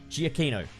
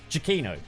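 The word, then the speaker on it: Giacchino: ah how's it pronounced g aquino chiquino michael jacquino's score is memorable it's [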